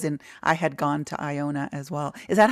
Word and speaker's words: Iona: that I was in I had gone to Iona as well is that how you say it Iona yes Iona okay and Iona is a tiny